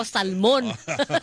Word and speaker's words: salmon: Sosyal daw sir nas It's Salmon silent l pero ag sa mga katulad ko Salmon Salmon ' baang Mahirap